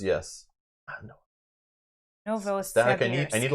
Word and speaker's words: Novosibirsk: Novosibirsk.